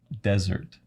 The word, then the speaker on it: desert: of these two sometimes yeah so this is Desert desert yes desert desert desert yeah yeah which